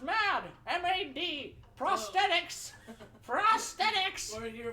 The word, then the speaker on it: Mad: uh uh mods stuff who's mod mod it's pronounced mad m-a-d prosthetics prosthetics we're here for the man